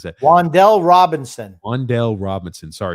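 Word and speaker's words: Wan'Dale Robinson: Waddle Robinson, Wandell Water, how the hell do you pronounce that? Wandell Robinson.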